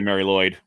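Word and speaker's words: Mari Lwyd: Really, the R is more pronounced more closer to a D in actual Welsh, but it's just easier to say Mary Lloyd.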